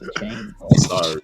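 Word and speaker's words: Achane: Where your sorry, Devon, for this African saying your name wrong. It's Achan.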